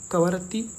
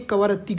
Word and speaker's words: कवरत्ती: क्योंकि कहीं-कहीं पे कवारत्ति भी लिखा होता है और कहीं-कहीं कवरत्ती भी लिखा होता है। तो ये प्रोनाउंसिएशन है। इसको देख के आपको कंफ्यूज नहीं होना कि ये गलत पढ़ा पढ़ रहा है या गलत बता रहा है। ये कव्रत्ती कवारत्ति ये लिखा जाता है।